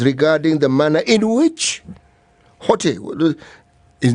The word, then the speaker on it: Hotte: the manner in which Hotte, his name is Hotte, H-O-T-T-E. Is it hot? Hot. If it's French, it's hot. The last letter of the word you don't pronounce, unless it has an accent.